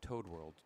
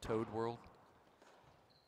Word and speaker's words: Toad World: I'm assuming that's how they say it, Toad World, T-O-A-D World, not to add world, but Toad World.